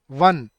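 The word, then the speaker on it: one: क्योंकि वन बोल के देखो एक बार। व वी वन। क्या साउंड आ रही है पहले?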